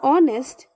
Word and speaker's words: honest: clear to you useful when we are saying useful y sound is being produced therefore a useful thing all right but when we are saying honest okay when we are saying honest o sound is being